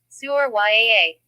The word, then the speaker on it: Surya: Pronunciation. Suryaa.